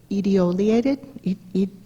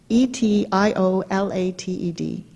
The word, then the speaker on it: etiolated: really like it's called etiolated e TI o la te d it sounds like ET only etiolated but it's you pronounce it with the T and without light plants